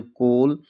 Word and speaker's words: coal: Silent होता है। आप हमेशा ध्यान रखिए। जैसे COAL कोल, COAT कोट, LOAN loan, TOAD toad, GOAL गोल।